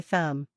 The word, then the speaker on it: thumb: Many learners try to pronounce the B at the end. But in natural English, we simply say thumb. The B is written, but it stays silent.